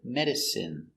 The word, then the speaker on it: medicine: take a closer look our first example medicine pronunciation is in medicine medicine medicine is not